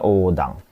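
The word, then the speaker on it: 横断: Jadi bacanya odang. Bukan odang ichibang, salah, kurang u-nya.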